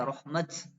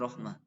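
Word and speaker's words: رَحْمَتَ: Surat Az-Zukhruf ini rahmat. Wahum yaqsimuna rahmat rabbik. Berhentinya ya rahmat. Nah, enggak boleh rahmah.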